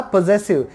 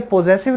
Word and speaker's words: पोजेसिव: अगला है हमारा पोजेसिव, ये पोजेसिव नहीं होता, इसकी करेक्ट प्रोनाउंसिएशन है पोजेसिव।